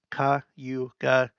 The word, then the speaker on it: Cayuga: okay I got that kayuga Ka Yuka Howden Howden nasauni ho